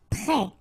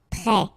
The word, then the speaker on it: prêt: Prêt. Final T not pronounced. E accent circumflex like that phonetically gives you the E sound. Prêt.